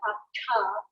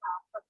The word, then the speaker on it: hatha: So this row with the dot under, if you take your tongue and put it up into the palate, da, da, da, right? So that da makes it up into the palate. So ta, ta. So this is the hatha yoga.